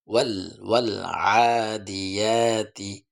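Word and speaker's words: وَالْعَادِيَاتِ: সেভাবে আপনারা করার চেষ্টা করবেন ওয়াল আদিয়াতি আইনের উচ্চারণ ঠিকভাবে ওয়াল আদিয়াতি ওয়াল আদিয়াতি ওয়াল আদিয়াতিবে কেন কলখোলা হবে কারণ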